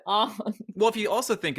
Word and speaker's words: Aang: like oh wait no there's a g at the end and so I pronounce it on well if you also